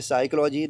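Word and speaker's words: psychology: एस से पहले अगर एस से पहले पी है तो पी प्यारे बच्चों साइलेंट रहेगा। जैसे पहली मीनिंग है साइकोलॉजी। देखो एस के पहले पी साइलेंट है तो यहां पी का उच्चारण नहीं होगा। साइकोलॉजी।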